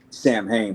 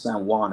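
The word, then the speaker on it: Samhain: But uh also you got your your uh your Halloweens or your s they people call it Sam Hang but I think it's pronounced San Juan if I'm not mistaken and your day the dead.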